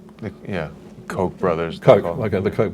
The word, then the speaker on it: Koch: The correct German pronunciation would be the Koch brothers. Yeah. Koch brothers.